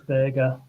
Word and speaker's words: Berge: I pronounce it as Burger.